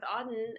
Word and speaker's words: Auden: i'm so excited to be talking today with auden am i pronouncing your name right yeah that's right i'm